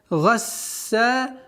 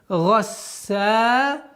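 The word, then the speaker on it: غَسَّاقًا: Гасса. Га, твердое произношение. Гасса.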